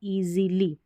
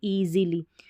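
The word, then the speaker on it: easily: यहाँ पर है EAE, SI को Z पढ़ना है, C नहीं पढ़ना है, ईजीली, ठीक है, ईजीली, क्योंकि देखिए S के यहाँ पर A है और इस साइड देखेंगे तो I है।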